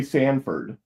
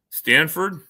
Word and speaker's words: Stanford: I I because to me you said it sounds like you said Oh, did you say Sanford? Stanford. It's Stanford.